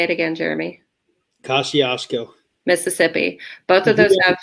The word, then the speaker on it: Kosciusko: Is it Kosciusko? Kosciusko. Kosciusko. There you go. There's that one. And the Old Itala County Jail, which is also, say it again, Jeremy. Kosciusko.